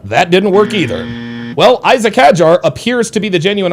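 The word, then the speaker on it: Isack Hadjar: the early going that Isaac Hajar uh is going and I don't know if he like he says he likes it pronounced Isak Hajar Isac.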